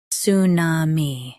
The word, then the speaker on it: tsunami: Tsunami. Both US and UK have the same pronunciation of this word. Stress su. Keep na and mi smooth. Tsunami. Tsunami. Stress su. Keep na and mi smooth.